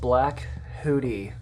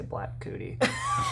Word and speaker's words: Black Hootie: So Yeah, we were originally called Black Hootie, and I say it like that because you can say it fast. It sounds like I say Black Cootie. That's not good. not what it is.